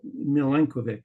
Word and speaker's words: Milenkovic: milenovic um the family name is a variant of Michael Mikel mileno and the Vic at the end is a patronic meaning son of so milenovic is how I and my relatives pronounced name in the English language um I was discussing